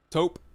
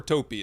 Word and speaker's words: taupe: Taupe. It's either taupe or taupey. It sounds like it's like nope with a T.